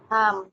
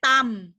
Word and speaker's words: thumb: Thumb. Thumb. Thumb. Dia bukan dibaca sebagai tam, itu T. Thumb. Itu Thumb.